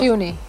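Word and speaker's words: Puisne: What is it pronounced? Puny. Puny? Is that how it's pronounced?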